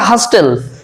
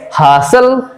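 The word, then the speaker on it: hustle: তারপর দেখো হইচই, ইংরেজি হচ্ছে হাসেল নট হাস্টেল, আমরা ভুল করে অনেক সময় হাস্টেল বলে ফেলি, এমনটা হবে না, উচ্চারণটা হবে হাসেল।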